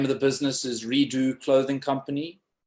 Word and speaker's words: Redux: The name of the business is Redo Clothing Company. Redo spelled Redux. Okay. So it's the French pronunciation of redux, and it just means